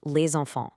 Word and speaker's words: les enfants: You hear it all the time in phrases like les enfants, where that silent S suddenly comes alive as a Z sound.